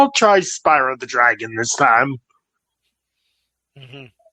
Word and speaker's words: Spyro: it was the way it was spelled is pronounced Spiro, but yes, you're right, it is Spyro.